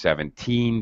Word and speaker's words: seventeen: car the part cost seventeen dollars you have to really emphasize the team now this is extremely